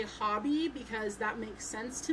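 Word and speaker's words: Hobbii: I always say hobby because that makes sense to me. In the English language, normally when things are spelled like that, it is a short O sound.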